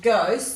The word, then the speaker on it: ghost: let's go down to ghost this has a silent letter so good post up